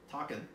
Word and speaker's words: Taken: So start with Takin. It's spelled Taken, but it's pronounced Talk, like Takenoko, the board game.